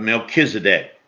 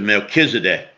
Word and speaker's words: Melchizedek: art a priest forever after the order of melchizedek now in the old testament if you're looking